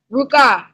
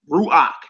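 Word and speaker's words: רוח: what's the next word R what is that ruk it would be that's how I know you you ain't hit that chapter you ain't hit that chapter three yet my chapter three see that's all it is ruach there you go in chapter three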